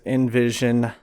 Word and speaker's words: NVZN: Today I have John Shaffer in here with Envision Inc. I'll edit that. Yeah, Envision Inc. It's a little difficult to pronounce because it's spelled weird, NVZN.